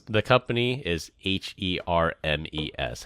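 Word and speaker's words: Hermès: right the company is h e r mes how do you pronounce that hers Hermes Hermes there's no Z in Hermes her Hermes it's yeah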